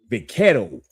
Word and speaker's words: vaquero: The Mexicans, they have a Spanish term for it, is vaquero. That's how they say it, vaquero.